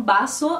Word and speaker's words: vaso: Um baço em português, né? Que eles falam com o som da letra B, mas se escreve do mesmo jeito, é na verdade um copo.